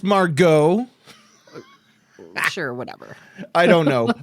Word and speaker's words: Margit: I think we killed Margit. I think that's as far as I believe it's pronounced Margot.